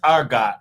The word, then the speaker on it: Argot: It's pronounced Argot. Argo because the T is silent.